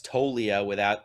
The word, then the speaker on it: Toglia: Yeah, I think first off, I need to explain to Reds country that it's Toglia there's a G there that you don't pronounce. So it's Toglia.